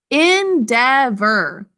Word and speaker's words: endeavor: some action there endeavor let's sound it out endeavor three syllables but we think to spell en devor that final syllable is unstressed but it's the or phonogram in devor okay first syllable is